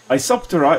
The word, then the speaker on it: Isoptera: termiterium a sopteran nirus isoptera is the order or to which the termites belong the thermite order iso meaning the same and then tera with a silent p means a wing so it's the basically